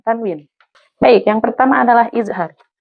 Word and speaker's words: izhar: Baik, yang pertama adalah izhar. Idhar itu artinya jelas. Maka huruf nun sukun atau tanwin bila bertemu huruf salah satu daripada izhar itu dibacanya harus jelas.